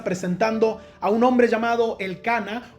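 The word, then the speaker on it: Elcaná: a un hombre llamado el Cana o como dice en otras versiones, el caná con acento en la A.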